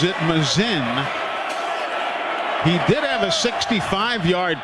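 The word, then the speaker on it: Masin: Frazier Mazen spells his last name m-a-s-o-f-s-i-n m-a-s-i-n pronounces it Mazin he did have a 65-yard punt against LSU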